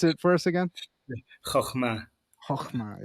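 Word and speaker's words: חכמה: in my head it's Hokmah. So it's so good to hear you with Chokhmah. not my Chicago accent saying it. Can you pronounce it for us again? Chokhmah.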